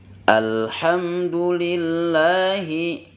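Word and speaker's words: الحمد لله: daripada makhorijul huruf lillahi lafal Allah ketika diucapkan memiliki sifat jahr Jangan dibaca dengan sifat hams contohnya liz Lah Alhamdulillah itu keliru harusnya alhamdulillah alhamdulillah lillah jangan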